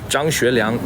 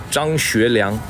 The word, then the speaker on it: Zhang Xueliang: His name is Zhang Xueliang in Chinese. So try to pronounce that in English. Zhang Xueliang.